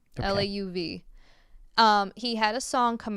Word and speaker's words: Lauv: So I think the singer's name is pronounced Lauv. Okay. Lauv.